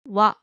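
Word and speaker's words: は: Ha is pronounced wa when it's used as the topic marking particle.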